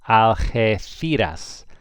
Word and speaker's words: Algeciras: The G is like an H, so it would be pronounced Algeciras, Algeciras. Remember the C becomes a TH in Spain if an I follows it, Algeciras.